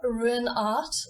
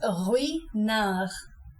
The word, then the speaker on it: Ruinart: Not Ruinart, which is what the granny did to the painting in Spain. It's Ruinart. This is actually easier for American English speakers to pronounce because you have the rolling R. So it's easier to say Ruinart than to say it in received English, where it would be Ruinart, but you can get it with practice.